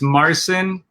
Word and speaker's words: Marcin: of your last name so it's marcin which is polish and uh which